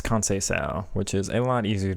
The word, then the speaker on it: Conceição: Okay, chat is informing me it's Conceição, which is a lot easier to pronounce than I thought.